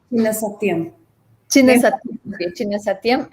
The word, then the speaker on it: Chinna Satyam: Sarasa, Guru Jairaman Rao, Guru Vempati Chinna Shastram. Am I pronouncing it correctly? Chinna Satyam.